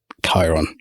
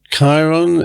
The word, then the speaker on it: Khiron: Khiron. Khiron is, I think, the adopted pronunciation from the ancient Greek, although you can have it any way you like.